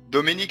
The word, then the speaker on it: Dominique: Dominique arrive quand? Do-mi-nique arrive quand? Arrive quand? Do-mi-nique. ناخد بالنا ان حرف الكي لو جه بعديه حرف اليو، حرف اليو لا ينطق.